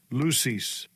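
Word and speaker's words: λύσις: This is the meaning of, this is the pronunciation first. Strong's G 3080. Lucis.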